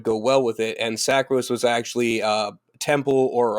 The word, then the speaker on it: Sacris: Sacris, yes.